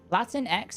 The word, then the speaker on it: Latinx: Latin X is pronounced Latinx.